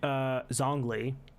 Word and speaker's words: Zhongli: I wanted Zhongli. Ah, That's how you say his name? It's Zhongli, yeah, right?